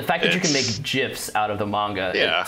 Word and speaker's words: GIF: that you can make gifs out of the manga it says all you need to I'm I'm sorry I'm sorry I'm not going to ignore this you guys say GIF yeah yeah soft G really yeah man yeah